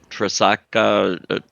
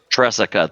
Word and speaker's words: Tresica: And Adam, I am going to describe, I'm going to pronounce it wrong, but Tresaka, Jessica? Tresica, thank you.